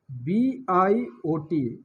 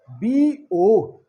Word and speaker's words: biot: Its CGS unit is a BIOT. We will pronounce as BO. We will not pronounce as biot. We should tell BO.